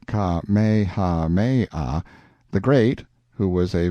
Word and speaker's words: Kamehameha: the drifting clouds when Kamehameha pronounced kha Maya the great who was